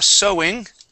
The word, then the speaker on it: sewing: a sewing machine okay so that's sewing even though it has an e there it is O Okay um now since